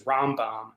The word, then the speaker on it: Rambam: uh right rmbm and that's just pronounced as rambam um so in just